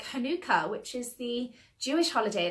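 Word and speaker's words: Hanukkah: people pronounce it like Hanukah but personally I think it's pronounced more like Manuka Honey like Manuka honey so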